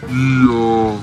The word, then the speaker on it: Iamaleava: Yeah, I'm Nico Iamaleava, and the correct way to pronounce my last name is Iamaleava. Iamaleava. Iamaleava.